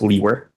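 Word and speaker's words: Liewer: e w r and it's pronounced leer and where are you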